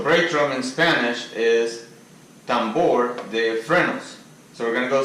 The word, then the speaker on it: tambor de frenos: So now the main thing of the video, which is how to write and pronounce in Spanish. So brake drum in Spanish is tambor de frenos.